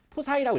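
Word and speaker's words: psi: 그래서 이걸 우리가 푸사이라고 읽어요. 자, 뭐라고 읽는다고요? 푸사이.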